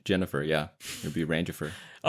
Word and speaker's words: Rangifer: It's like Jennifer, but Ranger. It's like if Randy uh married Jennifer. Yeah. It would be Ranger.